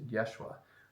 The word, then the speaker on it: Yeshua: with Jim cavel as playing Jesus that's the pronunciation that they use for Jesus is they use Yeshua which is the same words U same one